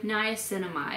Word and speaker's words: niacinamide: Niacinamide.